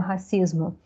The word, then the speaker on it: racism: O racismo. Interessante que a pronúncia dele é com som de Z, racism, tá?